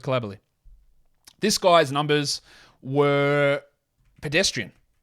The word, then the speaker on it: Coulibaly: Is it Coulibaly? Because I know you'll hear him pronounced as Coulibaly, but I watched a French game, well, obviously he plays in France, and the French announcers called him Coulibaly. So I'll go with Coulibaly.